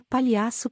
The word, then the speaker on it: palhaço: Josh mostra o dedo para ele e berra palhaço pela janela. Assim que estamos longe da vista de Tim, Josh descansa no assento, rindo. É palhaço, Josh. Sem a letra I.